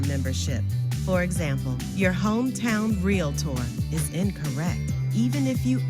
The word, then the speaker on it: Realtor: on the screen here, Realtor means member of NAR. It has 2 syllables. It's not Realtor, Realtor.